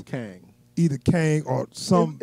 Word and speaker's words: Kang: q e in uh g which would be pronounced as kang in ch in uh right i got you